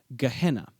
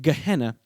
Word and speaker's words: Gehenna: The way I'm pronouncing this word is actually an anglicization that draws on the Greek pronunciation. The original Hebrew phrase was pronounced something like Ge ben Hinnom.